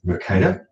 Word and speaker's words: Mercator: Moving right along, we have, being a recovering geography teacher, my favourite Belgian is Gerardus Mercator, that's how we pronounce it anyway, who devised the Mercator projection, which is the most common world map that you see.